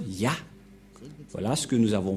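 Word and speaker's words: יה: C'est clair, d'après cette explication, et personne ne peut contester que c'est bien Ya, la prononciation.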